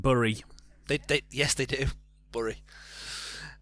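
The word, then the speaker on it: Bury: somewhere it's just called berry simple forwards the locals pronounce it burry they yes they do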